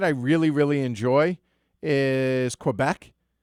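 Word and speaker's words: Québec: really really enjoy is Quebec or if you're phonetically pronouncing you know it's kbecque ugly ugly bored man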